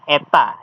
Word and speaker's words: eta: Selain itu kita perlu suatu nilai yang disebut dengan learning rate yang dibaca eta, dibacanya eta, bukan N pincang.